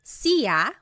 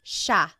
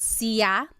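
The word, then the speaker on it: siya: It looks like it should be pronounced sa, but it's actually pronounced sha sha. There are some regions in the Philippines that might pronounce it sia, but for the most part in the central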